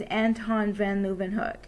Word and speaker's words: Leeuwenhoek: several hundred years ago, his name is Anton van Leeuwenhoek, and I kind of like to pronounce it as Antoine van Leeuwenhoek. Anyway, it just kind of makes me remember his name.